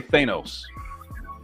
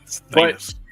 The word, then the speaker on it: Thanos: so but it's but it's vowel consonant vowel which means it's a hard a it's which is Thanos